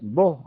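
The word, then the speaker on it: בוא: O sea, la palabra hebrea que ha sido traducida como preséntate es bo, así se pronuncia, bo, que significa ven.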